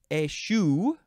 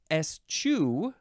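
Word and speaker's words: eschew: uh yes yes and it can be pronounced a variety of ways ASU ESU bless you um and both of those you can say the beginning as e or IU ISU is and then also and I think this is the one that probably more most people say possibly it is Esq ESU it is spelled e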